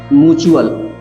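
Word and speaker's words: mutual: म्यूचुअल fund म्यूचुअल fund म्यूचुअल च pronunciation होगा म्यूचुअल fund next word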